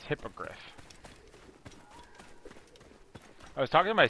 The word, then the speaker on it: hippogriff: the animal the beast's name was uh called hypocrite but it's called It's pronounced hippogriff I was talking to my sister I always